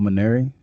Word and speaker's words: Mainieri: um the baseball coach at lsu uh paul minary that how you say his name indeed yeah